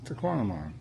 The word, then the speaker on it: Tahquamenon: It's like phenomenon except to tonamon. Phenomenon to quantum. That's it. Tquamon.